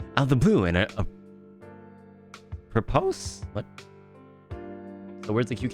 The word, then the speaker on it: apropos: And a propose of nothing. Huh? How do you say those words? Hold on. A propose? A propose? Apropos. Apropos. Oh, interesting.